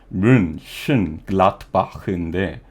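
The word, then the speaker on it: Mönchengladbach: 저걸 발음을 하면 뮌헨글라트바흐인데 뮌헨글라트바흐라는 말이 저 CHEN 저거를 헨이라고 하냐 쉔이라고 하냐 한국어로 표기할 땐 둘 다 맞다고 생각해요.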